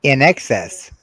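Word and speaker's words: INXS: I'm rocking an open wine it's pronounced in excess but the band's name is spelled this way oh let me think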